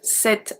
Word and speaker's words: cet: When a singular masculine noun only starts with a voyelle or a silent H, we are going to use C-E-T, set as well. Pronounced the exact same way as the feminine one.